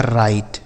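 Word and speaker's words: right: आई से पढ़ेंगे राई आर आई से राई जी एच टी से ट इसे से पढ़ा जाएगा राइट क्या पढ़ा जाएगा मेरे भाई राइट राइट ठीक है आर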